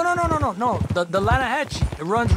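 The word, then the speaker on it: Lannahechee: caught some beautiful steelhead trout you mean the atlanta hassey river no no no no the the lana hatch it runs right near here yeah but it's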